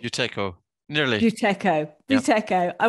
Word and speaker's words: Buteyko: Have I pronounced that correctly? Buteyko, nearly.